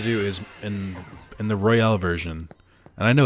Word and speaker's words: Royal: i had to do is in in the royale version and i know it's pronounced royal but i keep saying real because it's funny here and the royal version